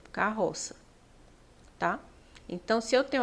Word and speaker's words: carroça: ver as outras carroça carroça Eu tenho um dígrafo então é escrito assim K roça com dois R né mas quando eu vou pronunciar aqui é como se fosse uma única letra carroça tá então se eu